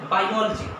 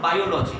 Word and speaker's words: biology: So when we pronounce such words, we have to be careful. We have to put a stress here.